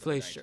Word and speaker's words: Fleischer: the Fleischer Superman based Fleischer, on the 1940s that's how you pronounce it.